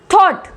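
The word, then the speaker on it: thought: थॉट, थॉट।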